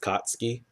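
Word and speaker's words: Katsuki: kutsuki Baca go oh it's pronounced like Sasuke you don't pronounce the U it's just kotsky whoa Jesus does he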